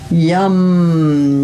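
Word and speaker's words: yam: Ha, yum. One syllable Sanskrit mantra. Yum, yum.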